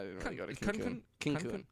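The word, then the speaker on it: Cancún: Cancun. Cancun. That's how the locals say it.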